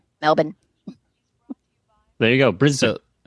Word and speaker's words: Melbourne: I had no idea I'd go around saying Melbourne all the time and it's like nope melin there you go bris